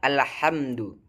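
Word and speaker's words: الحمد: yaitu alhamdu bertukar menjadi alhamdu yang benarnya adalah alhamdu memakai huruf jim ha. Kemudian kesalahan yang umum terjadi juga yaitu pada pelafalan alamin.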